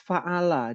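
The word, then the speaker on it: فعل: Jadi cara bacanya begitu Mas, fa'ala.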